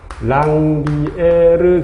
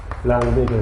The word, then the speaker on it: 랑비에르: 그리고 여기 요 말이집과 말이집 사이를, 이런 부분들을 뭐라고 부르냐면 랑비에르 결절, 르 살짝 발음해도 되고 안 해도 되고 랑비에르 결절이라고 하죠.